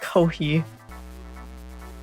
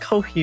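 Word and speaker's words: Ko-fi: Kofi update excuse me it's pronounced Ki huh it's apparently pronounced Ki because it's like coffee get it okay all right all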